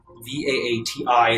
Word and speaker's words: Vaati: Vaati is how that would be pronounced in common.